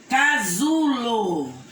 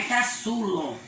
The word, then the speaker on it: casulo: Casulo. Casulo. Não é caçulo. Casulo. É também o som da letra Z.